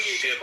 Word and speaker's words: Shiva: Not pronounced Shiva, it's pronounced Shiva.